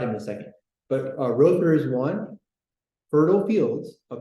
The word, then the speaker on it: Rother: Father Stanley Rother, or Rother, how do you pronounce his name? Rother, okay.